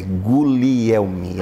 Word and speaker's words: Guglielmi: O falecido Darcioni Silva sempre me dizia, é Guglielmi, a pronúncia correta.